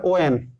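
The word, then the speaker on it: when: ইংলিশে মানে আমরা অনেক ক্ষেত্রে এটা কিন্তু হোয়াট হয় না, উচ্চারণ হয় ওয়াট, উচ্চারণটা হয় যেমন বিদ্যুতের ইউনিট মাপি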